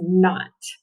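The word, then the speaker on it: knot: fell down okay now we have k n digraph we mark out that k is silent we have an o a guardian so that o is short so this word is not i tied my shoes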